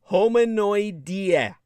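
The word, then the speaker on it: Hominoidea: ea and think idea homino homino like domino think domino's pizza right homuno h-o-m-i-n-o instead of d-o-m-i-n-o instead of domino it's homino and then idea homino idea that's how you spell it homonoidia that includes all hormones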